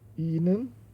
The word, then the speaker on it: Ihnen: Ihnen, esse I de Ihnen é um pouquinho longo, tá? Então, Ihnen, né? Ele se expande um pouquinho mais, é mais demorado.